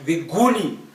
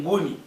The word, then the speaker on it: Nguni: Like the English Bible will say the Guni people or the Guni tribes. But we know that these people that are called Guni by English, they're actually Nguni.